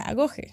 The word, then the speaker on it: agoge: Se escribe agogue, pero descubrí que se pronuncia agoge y pues bueno, yo no sé griego, pero no quiero quiero hacerlo lo mejor que pueda.